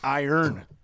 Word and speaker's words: iron: On a side note, by the way, you ever notice how the word iron, the spelling and the pronunciation are different? Kind of weird, right? You would think iron is how you would, but we say iron. Isn't that weird?